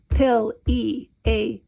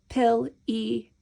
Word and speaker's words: Pileated: Pileated. We're going to count it. Pileated. We have 4 syllables.